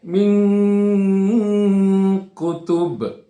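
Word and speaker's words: مِنْ كُتُبٍ: Jadi cara membacanya adalah dibaca dengan samar. Nah, samar ya. Min kutub. Ya, min kutub. Ya, dibaca samar dan ada dengungnya juga, ada gunahnya juga.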